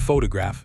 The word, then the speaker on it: photograph: Photograph, stress is on the first syllable.